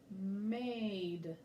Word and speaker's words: made: Made. That's the word made. So the important thing to remember is that magic E is a silent letter. He's not going to say anything at all.